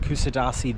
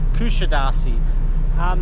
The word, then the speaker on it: Kuşadası: I believe it's pronounced, and I could be wrong still, Kusadasi.